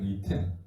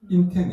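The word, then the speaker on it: אתן: 이텐 인텐이 아니라 요게 요게 타보와 동화되어서 타보가 되어 버리기 때문에 타보가 두 번 나오겠죠.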